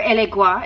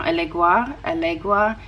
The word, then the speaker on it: Elegua: story i believe of allegra um or elegua is another pronunciation i just thought of that just now alegua a legba there's a lot of different pronunciations but anyway um there's